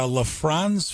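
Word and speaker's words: Lisfranc: And they said, was it, a LaFrance fracture? Or I mispronounced that probably.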